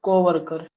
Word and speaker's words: co-worker: is the where is the trace in the word co-worker?